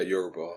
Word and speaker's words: Yoruba: So, for instance, I understand, how do you say that Yoruba people? Yeah, Yoruba.